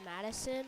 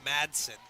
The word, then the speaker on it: Madsen: Is his name pronounced Madison or? Madsen.